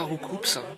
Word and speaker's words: Roucoups: Roucoups. Roucoups. Mais Roucoups. Roucoups. Roucoups. Roucoups. Putain! Roucou! C'est pas compliqué! Un oiseau qui roucoule et qui donne des coups! Vous avez toujours prononcé coups pour désigner des coups, vous?